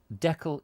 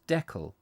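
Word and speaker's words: Deckle: is it is spelt it is spelt uh d-e-c-k-l-e that's i would have said that decal like jekyll but you know um anyway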